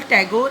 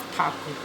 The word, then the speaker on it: Thakur: It was Britishers who were not able to pronounce his name properly. They used to call Tagore instead of Thakur.